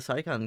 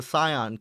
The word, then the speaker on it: Scion: ahead and enjoy the saon campaign yourself God I just mispronounced it I'm not even doing that on purpose it is the Scion C races campaign made